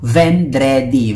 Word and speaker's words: vendredi: Vendredi, pag nakita nyo, vendredi. Vendredi, pronounced as vendredi.